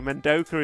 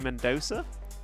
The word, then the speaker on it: Mendoza: So, Menoka is actually Mendoza.